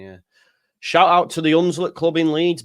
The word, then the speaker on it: Hunslet: Shout out to the Hunslet Club in Leeds. Big up Hunslet with a silent H.